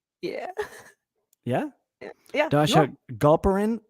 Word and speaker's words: Galperin: yeah yeah yeah yeah goprin is that how we pronounce your last name sure you say it well i mean i pronounce it multiple ways galperin galperin it's all good it's fine